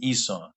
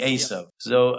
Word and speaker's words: Esau: gave to as Esau I think you pronounce you in English they pronounce it Esau I think the the his name is actually as so Isaac gave him a